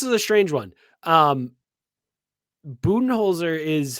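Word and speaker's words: Budenholzer: this so this is a strange one um buttonholzer is how i've always been told to pronounce his last name but everyone calls him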